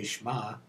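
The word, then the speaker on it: שמע: and an olive and it's pronounced exactly the same way shma but it means perhaps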